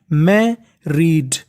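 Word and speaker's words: married: अब देखिए जो आगे वाली मीनिंग है उसके बीच में लिखा है आर दो बार लिखा है और इंग्लिश का एक रूल होता है कि अगर कोई भी लेटर यानी कोई भी अक्षर दो बार लिखा है तो उसका उच्चारण केवल हमें एक ही बार करना होता है तो देखिए मीनिंग बन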